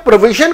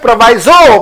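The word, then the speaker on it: proviso: प्रोविजो, प्रोविजो कई लोग इसे प्रोवाइजो प्रोनाउंस करते हैं, दोनों प्रोनाउंसिएशन ठीक है।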